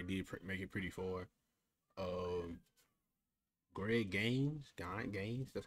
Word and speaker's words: Greg Gaines: Greg Gaines, that's how you say his name, DT, Rams had a worse season than we did.